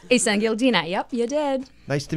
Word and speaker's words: Isengildina: Isengildina.